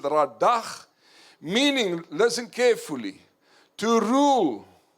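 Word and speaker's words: רדה: You pronounce it radach, meaning, listen carefully, to rule, to subdue, to tread down.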